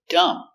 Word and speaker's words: dumb: a closer look example dumb so we see m b at the end the B is always silent so the pronunciation dumb stupid same as stupid